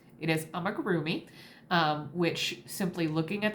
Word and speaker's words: amigurumi: also just recently found out I have been mispronouncing for the last year it is not amagami it is is I'm a groomy um which simply looking at the word might